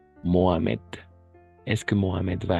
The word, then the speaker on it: Mohamed: Est-ce que Mohamed, le H est toujours muet? H siempre muda. Mohamed.